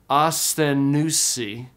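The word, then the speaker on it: ἀσθενοῦσι: In the last line, the words are pronounced asthenousi. Again, together, asthenousi.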